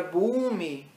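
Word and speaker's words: भूमि: Agora, Bhumi, em inglês se escreve com O, mas o Bhumi tem que ter esse som, né? Aqui em inglês fica Bhoomi, mas você poderia escrever isso com U em português.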